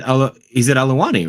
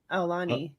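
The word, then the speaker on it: Aulani: He's at Aluwani, right?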